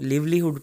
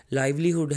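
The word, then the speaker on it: livelihood: अक्सर इसको लिवलीहुड पढ़ते हैं तो प्रोनाउंसिएशन के बारे में भी हमें फोकस करना चाहिए। लाइवलीहुड है, इसका मतलब रोज़ी रोटी।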